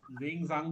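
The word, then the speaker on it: Xuanzang: वेनसांग ना, जेंगजांग भी बोलते हैं इंग्लिश में, इनको याद रखना। जेंगजांग, XANG ऐसे करके स्पेलिंग है, XANG।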